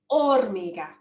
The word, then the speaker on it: hormiga: We don't pronounce it hormiga. We pronounce it hormiga.